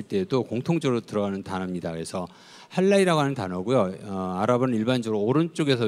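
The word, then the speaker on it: حلال: 그러니까 이거를 당연히 아랍어를 아는 사람은 할랄이라고 읽습니다.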